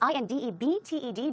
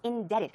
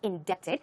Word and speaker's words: indebted: at it indebted is i n d e b t e d but the pronunciation is indebted the B here is silent so keep that in mind it's not indepted it's indebted so these